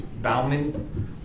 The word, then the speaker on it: Bauman: woman um yes my name is Bauman phonetically b-a-u-m-a-m Bravo Alpha uniform Michael for November um and Mr Bowman um where did you spend the last 27